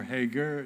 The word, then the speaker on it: Hagar: an example when uh Hagar is or Hager depending on your preference I pronounce the Hebrew way when Hagar is banished